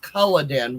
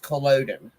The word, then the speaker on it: Culloden: I believe there's a Culloden, Oregon, a Culloden, Nevada, but they call it, it's pronounced Culloden where they're from. Mm-hmm. And here it's pronounced Culloden. Right. But it's spelled the same.